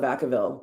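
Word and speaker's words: Vacaville: They know they they just call it Vakavville. People that don't live there don't they like try to pronounce it like in strange ways and it's hilarious.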